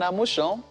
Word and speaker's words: Amusan: But, They also have the story on Amusan, since the Ijebude people say that's how it is pronounced.